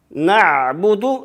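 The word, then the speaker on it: نَعْبُدُ: На'буду, звук айн тоже нельзя, как делать. Чуть-чуть звук даем.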